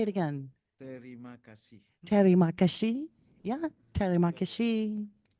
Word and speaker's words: terima kasih: Terima kasih. Ooh. Say it again. Terima kasih.